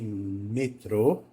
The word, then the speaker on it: metrô: acertou Quem disse que metrô é uma palavra oxítona vocês podem ter confundido com a palavra metro mas metrô tem acento circunflexo no o né O que torna o o pronunciado com som de o Lembra daquela a dica